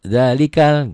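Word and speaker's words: ذلك ال: Itu sebagai pertanda bahwa itu hamzah wasol. Diwasol. Diwasol tuh digabung. Kalau digabung dia nggak bunyi. Zalikal gitu ya.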